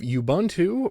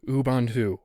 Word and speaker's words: Ubuntu: you for sending that small correction Ubuntu I know it's called Ubuntu I've been calling it Ubuntu for so long it's a very very